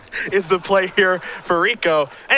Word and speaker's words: Rekow: that is rico his house last name is pronounced like rico suave i said like rico